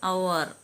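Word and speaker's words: hour: whole silent ആണ് അടുത്തത് silent H വരുന്നത് അവർ മണിക്കൂർ എക്കോ പ്രതിധ്വനി ഗോസ്റ്റ് പ്രേതം ഇതിലെല്ലാം എച്ച് സൈലന്റ് ആണ് സൈലന്റ് ജി വരുന്നത് അലൈൻ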